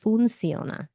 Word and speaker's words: funciona: But this, as you'll notice, does not have 2 C's. And I just freaking realized that I've been saying it wrong. It should be funciona. Funciona. I'm hearing it more often. I have said it so long the wrong way that saying it the right way doesn't feel right.